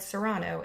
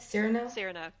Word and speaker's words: Cyrano: so there's mine because i said serrano and what are you calling it cyrano cyrano this is a